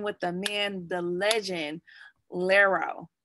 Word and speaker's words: Larro: So I am with the man, the legend, Larro. That's ain't right. You said it right. Larro.